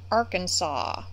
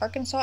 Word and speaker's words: Arkansas: Tor, but hour, and sucker, for, gas, alas, and Arkansas. Did you know that Arkansas actually has a rule that it is against the law to pronounce Arkansas, Arkansas?